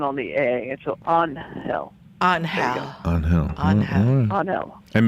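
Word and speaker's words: Ángel: on hell on hal his name looks like angel is pronounced on hell you're kidding oh my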